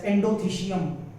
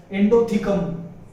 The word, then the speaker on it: endothecium: This layer we call it as endothecium, or some people also pronounce it as endothecum, but that is called as endothecium.